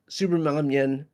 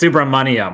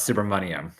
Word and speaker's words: Subramanyam: It's Subramanyam, like money. Suhas Subramanyam.